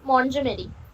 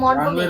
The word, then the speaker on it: Montgomery: Hour runway guide Lucy মন্টজমেরি, sorry runway মন্টগোমেরি।